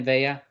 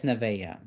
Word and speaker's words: Nevea: Avea. I'm gonna get you. You said my middle name wrong, Devin. It's Nevea.